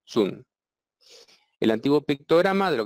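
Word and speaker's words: 屯: tiene dos significados y se pronuncia de dos maneras distintas en la mayoría de los casos se pronuncia Tun que significa reunir juntar y llenar con abundancia en la antigua China un almacén se llamaba atún y el lichin y solo en el lichin este carácter tiene el significado de comienzo en este caso se pronuncia zoom el Antiguo pictograma de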